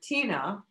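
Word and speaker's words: Tynne: And so Tina wanted to know what is the power of her name?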